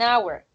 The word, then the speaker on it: hour: An hour. So an hour is the noun, right? Hour. So hour starts with a consonant, right? But when you're speaking, the H is silent, right?